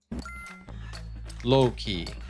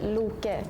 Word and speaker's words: Loki: Loki. In America, I'm gonna go with Loki. In Finland, we would pronounce this as Loki. In Iceland, we would say Loki. In Swedish, we would say Loke.